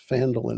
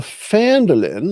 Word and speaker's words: Phandelver: can find the right Phandelver map here. So we can share that one. There. So Phandelver or Phandelver, you can pronounce it either way.